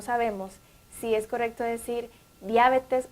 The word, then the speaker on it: diabetes: Bien, entonces la correcta pronunciación es diabetes. Diabetes. Sí, vamos a pronunciar de ahora en adelante correctamente esta palabra, no diabetes, sino diabetes.